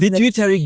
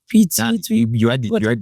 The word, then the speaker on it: pituitary: pit pit gland pituitary I never know how to pronounce that pitutary gland pituitary let's say no just say in your language pituitary you got it pituitary pituitary pituitary